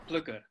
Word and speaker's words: Plukker: So, am I right when I pronounce Plukker or Plukker? In Dutch, it's pronounced Plukker.